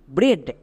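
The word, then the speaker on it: bread: Next D, ডি এর জন্য ডো, তাহলে কি হলো বি আর ই এ ডি, ব্রেড। সো আমরা যদি দেখতে পাই ই এ এর পাশে ডি আছে, ই এ এর জন্য একার করব।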